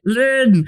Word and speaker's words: Lin: The thing that is the one they spell Lynn. Lynn, but it's spelled Lin.